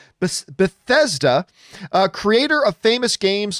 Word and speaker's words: Bethesda: just broke out that beset but i always mispronounce this bethesda uh creator of famous